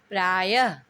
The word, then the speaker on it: प्रायः: इनका उच्चारण ह की तरह, आधे ह की तरह होता है, लेकिन ह लिखा नहीं जाता है।